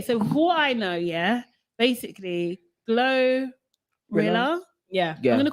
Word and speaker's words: GloRilla: I actually thought it was like pronounced like gorilla.